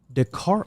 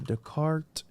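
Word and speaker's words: Descartes: want to say that Dart also died of pneumonia decart decart for those people that want to correct me in the email me you're saying it wrong well whatever who cares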